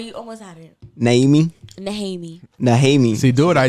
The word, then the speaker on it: Nehemie: It's naming? Name? How do you pronounce it? Go ahead, but you almost had it. Naming? Nehemie.